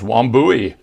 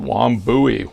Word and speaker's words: Wambui: Let's move on to the next one, which is Wambui. I believe that's how you pronounce it, Wambui, which is a zebra jasper shield.